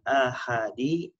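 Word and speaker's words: آحاد: Al-mabhasul tsani, pembahasan yang kedua, khobarul ahadi, khobar ahad. Jadi A-nya panjang dibacanya.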